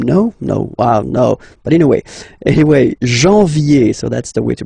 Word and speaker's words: janvier: But anyway, janvier, so that's the way to pronounce it. Janvier, A-N, en, okay? And then ye, janvier.